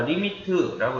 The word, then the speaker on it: lim: 자, 리미트라고 읽고요. lim 이렇게 씁니다.